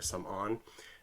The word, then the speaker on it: Samoeun: His name is Samoeun. In the book, it's Samorn, so like Samoeun, but it's actually pronounced in Khmer Samoeun.